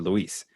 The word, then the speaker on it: Luis: do you pronounce it is it lewis or luis so i'd always tell him it's luis but i'll answer to either one i'm so used to